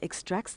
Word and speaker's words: extract: the verb to extract where is the emphasis or stress in this word it's on the second syllable extract but e ex t